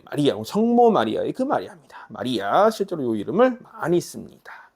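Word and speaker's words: María: 보시면 되고 말이 이해하는 이의 강세가 있죠 마리아 마리아 조금 오버하고 있는 겁니다 여러분은 좀 자연스럽게 이렇게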